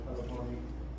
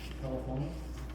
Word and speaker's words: teléfono: Telephone. Where's the stress go? Telephone. No? Teléfono.